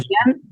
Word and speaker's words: Karajan: Karajan, Karajan. Karajan. Ujú. Estamos hablando de Karajan.